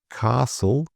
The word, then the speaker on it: castle: Often the T here in words like this are just ignored or very underplayed. So some examples: listen, whistle, castle, soften, and bristle.